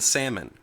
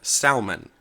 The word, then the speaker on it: salmon: in other words you actually said the L in salmon and that is incorrect of course and I remember looking at him and saying I'm sorry I don't care what any of these idiots around here say I am not going to go on the radio and call it salmon it is salmon so this is something